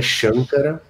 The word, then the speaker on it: Shankara: O Sankara também é Shankara, também SH.